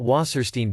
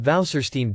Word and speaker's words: Wasserstein: about the wasserstein distance this w here actually pronounces v it doesn't pronounce w it's not wasserstein distance but valserstein distance okay how this waserstein